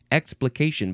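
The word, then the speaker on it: explication de texte: like explanation right ex no explication not explanation explication but it is expc and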